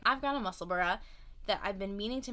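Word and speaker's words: Musselburgh: meaning to make this i said muscleburg i meant muscle bra i'm trying to say it right i've got a muscle burra that i've been meaning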